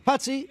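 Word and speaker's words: Putzie: Putzi. Putzi, of course.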